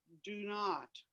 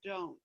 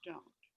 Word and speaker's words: don't: and DON apostrophe T is do not, but it's not pronounced do not. It's pronounced don't.